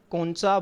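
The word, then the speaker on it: concha: अच्छा बच्चों अक्सर जो है वो इसको इंफीरियर नेज़ल कोनका पढ़ा जाता है। ठीक है? लेकिन जो इसकी ट्रू प्रोनाउंसिएशन है जो इसकी असल प्रोनाउंसिएशन है वो क्या है? इंफीरियर नेज़ल कौन सा बोनस?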